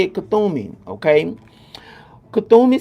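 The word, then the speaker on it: Kuthumi: That's how you say it, Kathumi.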